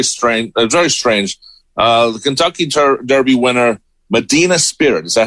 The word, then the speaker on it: Medina Spirit: The Kentucky Derby winner, Medina Spirit. Is that how you say it? Yes, brother. Medina Spirit.